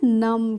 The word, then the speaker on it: numb: तो इसको हम पढ़ते हैं नम। क्या पढ़ते हैं, नम पढ़ते हैं। यहाँ पे जो बी है इसका हम प्रोनाउंसिएशन नहीं करते हैं, ठीक है।